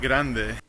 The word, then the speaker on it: grande: The word grande. Grande. And the last one, letter E has to be spoken. Otherwise, believe me or not, you will say it in Spanish.